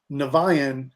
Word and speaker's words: Niviane: from all the bands um everything's there but nevayan since that is my main band my main